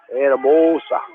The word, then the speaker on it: Anamosa: Anamosa.